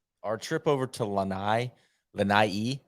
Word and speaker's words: Lanai: trip over to Lanai Lanai I believe is the proper pronunciation was and this is